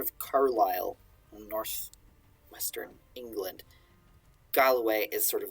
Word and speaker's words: Galloway: and uh he's from Galway Galway not Galway uh it's spelled it looks kind of like Galway uh not Galway it's Galloway which is sort of